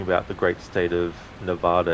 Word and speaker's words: Nevada: So, on a side note, if you're talking about the great state of Nevada, it's pronounced Nevada. If you're talking about the desert, then it's Nevada.